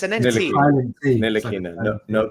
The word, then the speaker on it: Ntilikina: Is it pronounced Ntilikina or Dilikina? Because it's an NT. Ntilikina, no T. So no it's D. a silent T.